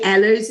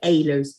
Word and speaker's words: Ehlers: We say Ehlers in the UK, and you say Ehlers.